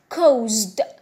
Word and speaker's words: caused: Here we have got ce. C'est écrit ici ce. Mais la prononciation de ha c'est ze. Donc we say caused, caused.